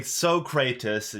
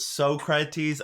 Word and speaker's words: Socrates: they try to they so kratos you know socrates they pronounce it wrong intentionally throughout the entire movie and oh my god i don't know why it bothered me so much but socrates oh my god i